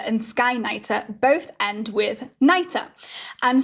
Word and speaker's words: Skynyter: So you'll notice that the names Midnighter and Skyknighter both end with Nighter. And sometimes, depending on the region that hedgehogs are from in Chutaland, this is sometimes pronounced as Neater. So that would become Skykneiter or Midneater.